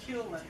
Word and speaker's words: Culin: You pronounce it Culin? Culin. Got it wrong. It's Culin.